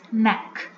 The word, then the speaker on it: knack: See here, K is silent. We will use only neck. How it will pronounce neck, meaning an ability or a special skill to do something.